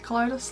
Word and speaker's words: Kaleidos: colitis futurism palette and that's how you say it colitis like kaleidoscope but not the scope part as well as a